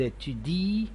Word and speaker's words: étudient: Ils étudient, elles étudient. Notice that we never pronounce the nt at the end of ent verbs.